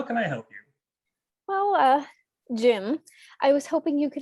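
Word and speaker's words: Jiim: It's spelled J-I-I-M. Jim? Yes, that's right.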